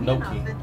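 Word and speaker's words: gnocchi: keep forgetting that that the ci print pronounces a chest sound like think like gucci and then what makes it even more confusing c-h-i makes a king that's why it's called no key all right and they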